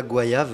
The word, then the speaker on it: Goayave: laisser citer ouais voilà goayave voà en fait c'est goyave prononcé en créole Guadeloupe parce que j'ai grandi